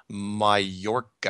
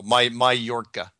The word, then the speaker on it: Mallorca: Oh, by the way, I just got a message from somebody that said the island is pronounced Mallorca. Mallorca, that's it, yeah. Mallorca. Mallorca or Mallorca? No, Mallorca.